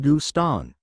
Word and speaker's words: Gustin: and there he would Gustin pronounced gustan crocodile variety of grim